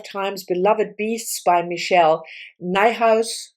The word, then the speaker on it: Niehaus: Beloved Beasts by Michelle Niehaus. Niehaus rhymes with my house is her handle on um social media and this book was published like I said something's never change.